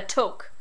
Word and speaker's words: toque: And it's spelled with and it's spelled like a toque, like a chef's hat, a toque, but it's actually pronounced toque.